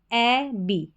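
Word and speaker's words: abbey: तो पूरा उच्चारण क्या हो गया, ए बी, ए बी, ए double बी ई वाई, ए बी। ए को पढ़ा ए, डबल बी ई वाई को बी, एबी।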